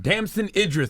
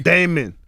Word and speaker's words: Damson Idris: We have Damson Idris. Did I pronounce that right? Did I land that? He pronounced it right. You're the first person to pronounce that right. Damson. What did they say? Damon.